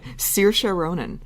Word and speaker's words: Saoirse Ronan: Do you want to pronounce the Lady Bird nominees' name? Saoirse Ronan.